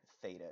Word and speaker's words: theta: a letter it essentially as a as a th sound is is what that Greek letter theta is it's th ETA is